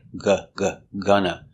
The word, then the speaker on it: gonna: Gonna. With gonna, you hear 2 times. Gonna. Same sound. Gonna. It's a short sound.